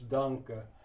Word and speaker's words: danke: In German it's danke.